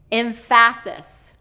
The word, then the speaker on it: emphasis: So emphasis. So it should be, he's doing second syllable stress, and it should be first syllable stress.